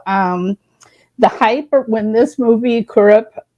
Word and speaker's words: Kurup: So the hype when this movie Kurup, it's pronounced, it's hard for me because when I see it, but the Malayalam pronounces this Kurupa.